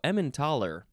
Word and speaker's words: Emmentaler: Next is emmentaler? No, emmentaler. I thought it was emmentator for a second. Emmentaler, capital E-M-M-E-N-T-A-L-E-R. Or you can spell it with a TH, or it can be Emmental.